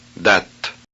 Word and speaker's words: date: Is the final E pronounced? Date, vide, coupe. The answer is no.